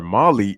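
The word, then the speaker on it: Mahle: now we have tyler molly see i'm keep trying to correct myself tyler molly at the plate the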